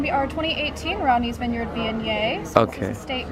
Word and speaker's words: Viognier: So our first one is gonna be the Vorgnier. No, what is it called? Viognier? Viognier. That's what how you pronounce it.